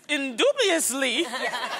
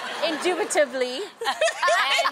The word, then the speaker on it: indubitably: Indubiously. Indubitably. Don't say it like that.